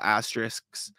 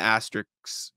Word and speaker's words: asterisk: off with a little asterisks uh and the asterisks I can never pronounce that word being that if he does play enough oh Jesus yeah see yeah exactly asterisk that's what it is that's him trying to